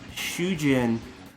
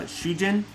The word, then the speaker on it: Shujin: is getting smoked so depending on how long you like pronounce a word can separate it um in japanese so if you said uh shujin like said it three syllables and it's kind of like rolling off the tongue xu ji n chu jin it's husband but if you pronounce it shujin with a longer you it's prisoner so i thought it